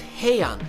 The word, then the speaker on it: Heian: By the way, in more modern Japanese styles, these kata are known as heian, but the original pronunciation is pinan, which has Chinese origins and actually means to stay safe.